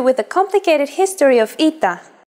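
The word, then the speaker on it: ήτα: complicated history of ita at first it is generally believed to be pronounced like a long version of epsilon and sounded like e after the classical period however its sound started to change and merged with yota as did another letter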